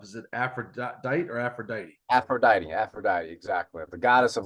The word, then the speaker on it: Aphrodite: screw this up is it afrodite or Aphrodite Aphrodite Aphrodite exactly the goddess of love sex and